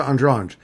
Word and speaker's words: Andrade: Andrade. Where do you get the G? It's Andrange. How you pronounce it? Okay. Jessica Andrange.